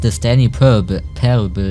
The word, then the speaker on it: The Stanley Parable: Das heißt The Stanley Parable. Ja, ich bin so Deutsch, wird ausgesprochen, aber...